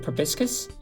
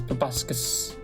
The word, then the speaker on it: proboscis: isn't it always like it's written as proboscis but i feel like everyone always pronounces it probiscus unless biscuits is something else how do you pronounce proboscis p-r-o-b-o-s-c-i-s i don't pronounce that i say probiscus but maybe i'm wrong probably proboscis robes